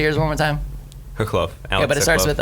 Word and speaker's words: Khokhlov: Alex Khokhlov. All right, say yours one more time. Khokhlov. Yeah, but it starts with a what? K? With a K, but it sounds like an H.